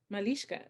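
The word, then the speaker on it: malyshka: be brave it's um malishka is that how you say it send me the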